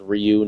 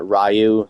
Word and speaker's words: Ryu: be confused with Ryu from Street Fighter it's pronounced Ryu not rayu how a lot of kids pronounce it in